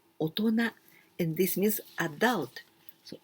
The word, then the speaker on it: 大人: But we don't say お人 or 大人. Not like this. With these two, we pronounce 大人.